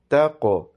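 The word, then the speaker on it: تقويم: After this, the word is taqweem. Taqweem. So qaf has a kalkala and waw is pronounced with a round shaped mouth or rounded shaped lips. So it's pronounced softly, okay?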